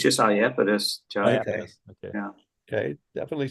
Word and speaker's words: Iapetus: Now we come to the Saturnian moon, Iapetus.